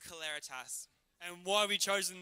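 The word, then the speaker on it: Celeritas: your name it's pronounced claritas and why have we chosen this name for this competition it's it's actually a latin term um representing swiftness speed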